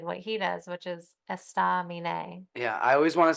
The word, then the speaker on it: Estaminet: Yeah, Estaminet.